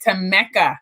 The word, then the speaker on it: Tammeca: name right that's right it's not it's it's spelled p-a-m-m-e-c-a right to mecca i want to say